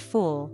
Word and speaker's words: fool: Take full, fl, and fool, full. In full, the vowel is short, similar to the Spanish u in nulo. But fool has a longer, more rounded oo sound, u.